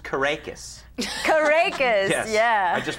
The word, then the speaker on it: Caracas: It's pronounced Caracas. Caracas, Yes. yeah. I just wanted you to know. It's actually Or- Caracas. No, it's Caracas. You have to do that with the S.